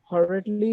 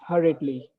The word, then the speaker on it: hurriedly: There was incorrect pronunciation of the word hurriedly. The correct pronunciation is hurriedly.